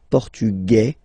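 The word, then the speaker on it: portugais: The Feminine form okay masculine portug you don't pronounce the S feminine form portuges you pronounce this z sound okay and then ESP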